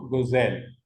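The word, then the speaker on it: güzel: थोड़ी सी दरमियानी सी, आप कह सकते हैं। गुजाल भी नहीं करते और गुजैल एल करके और भी नहीं गुज़ार करते, उसकी दरमियान सी ऐसे, गुजैल।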